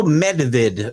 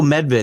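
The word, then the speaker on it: Medved: Nico Medvid. There you go. I always leave out the D. Nikico Medvid.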